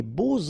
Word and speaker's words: beaux: And here it's quite interesting because even if you've got this X, well, phonetically it will be like Z, so like if it would be an S, okay?